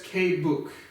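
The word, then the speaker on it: Québec: that would be pronounced I hear people say qua back um Francaise so I think that's K book was how you would say that properly but whatever it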